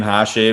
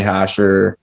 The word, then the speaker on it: Hache: yeah i'm kind of just pronounce my name hashee but the boys usually just call me hasher something like that so